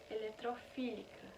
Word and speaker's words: eletrofílica: da reação de férias eu vou fazer uma correção aonde eu tava falando ele é trófica E na verdade a pronúncia é eletrofílica bom então é sobre